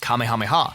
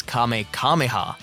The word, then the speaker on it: Kamehameha: In this episode, Goten fires his first Kamehameha, mispronouncing it as Kame Kamehahha and almost blowing away half the arena.